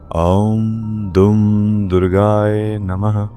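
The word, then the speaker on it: ॐ दुं दुर्गायै नमः: और फिर पांच माला ओम दुम दुर्गायए नमः की करें। इस मंत्र का उच्चारण मैं आपको बता देता हूं। इस मंत्र का सही उच्चारण है ओम धुम दुर्गाय नमः।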